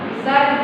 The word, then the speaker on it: विसर्ग: दो बिंदु बोलते हैं लेकिन इसका सही उच्चारण है वो विसर्जन इसको क्या बोलते हैं हम विसर्ग बोलते हैं ये वाला चिन्ह है